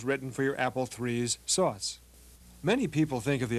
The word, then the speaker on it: SOS: the operating system you using is called SOS pronounced sauce and it stands for sophisticated operating system some